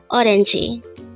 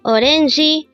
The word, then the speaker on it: 오렌지: combine the Hangeul for each of these three syllables to form the Hangeul of the word orangi. Now let's try looking at this example. It says orange tree. Again, orange tree. The Korean translation of this is orangi namu.